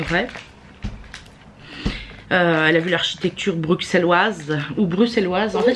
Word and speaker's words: Bruxelles: a beaucoup qui disent Bruxelles pourtant pourtant c'est Bruxelles en vrai mais ça s'écrit Bruxelles donc ça se dit pas forcément